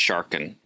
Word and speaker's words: Sargon: The first one we're going to be looking at is Sargon of Akkad, probably pronounced Sharkan.